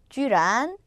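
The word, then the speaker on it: 居然: 발음은 찡란, 쥐란, 부랴.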